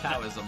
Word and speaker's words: Taoism: It's like Taoism. Yeah, I know it says T, but I'm pretty sure you're supposed to say it like Taoism.